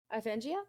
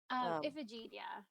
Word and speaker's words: Iphigenia: these people, and kind of especially looking at Iphengia. Is that I believe that's how it's pronounced? Iphigenia.